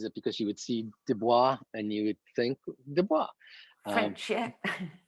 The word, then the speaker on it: Du Bois: to over and over his name looks like it's dubois but it's w.e.b du bois is how oh that's